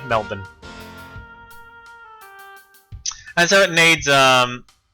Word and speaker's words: Melbourne: an hour oh it's definitely not Melbourne uh a lot of North Americans say Melbourne uh because you know born born identity it's it's spelled the same as that so yeah it's I see where they're getting it from but yeah it's us it's always been Melbourne and so it needs